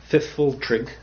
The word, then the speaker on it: Pfifltrigg: And the third one, which is very, very difficult to pronounce, the Pfifltrigg, that's Pfifltrigg, who are kind of like mechanics, industrious, somewhat